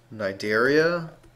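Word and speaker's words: Cnidaria: Periphera, Nidaria, the sea is silent.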